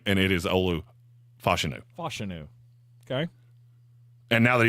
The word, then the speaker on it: Olu Fashanu: hear him say his name and it is Olu fashanu fenu okay and now that he's on my